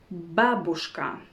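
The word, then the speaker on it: бабушка: that many foreigners know babushka babushka babushka you see it's not babushka it's babushka the correct stress is on the first syllable babushka or for example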